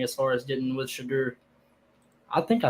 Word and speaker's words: Shedeur: a reps thing as far as getting with Shedeur. I think I say his first name right. I don't know if I do or not. Shedeur. Yeah, you said it right, Shedeur.